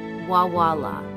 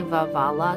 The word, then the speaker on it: Veualiah: The pronunciation of this angel is Veualiah. I like to say Veualiah because it's two vavs and a lamed, but that's what we're